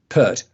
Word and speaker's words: Pert: How do you pronounce his name? Pert. So if you want to look in tonight on YouTube, you've got Sam Pert on at 8:00.